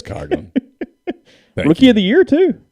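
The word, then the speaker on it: Coghlan: really on saturday yeah you didn't say his name correctly by the way it's world series champion chris coggin rookie of the year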